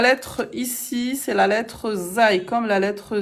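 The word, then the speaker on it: زاي: La lettre ici, c'est la lettre Zai, comme la lettre Z.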